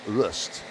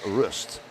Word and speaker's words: Rust: you know, Devian uh says it's it's Roy, you know, and uh Spencer's dad said, "Oh, well, actually, you know, uh we say it's rust, so it's rust." Uh Spencer Rust is the correct pronunciation of that name.